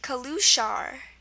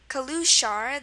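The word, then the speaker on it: călușar: its pronunciation it's pronounced kaluar kaluar the uh stress pronunciation is on that last syllable sh and the most interesting thing here is that the S is pronounced as if it was an sh so the s s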